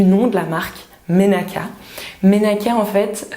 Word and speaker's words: Menaka: Menaka, en fait, que je ne prononce pas tout à fait à la malgache, qui serait plutôt, alors excusez mon accent, mais Menaka, ça veut dire huile en malgache, tout simplement.